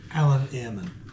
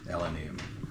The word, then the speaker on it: Eilean Iarmain: Eilean Iarmain. Eilean Iarmain.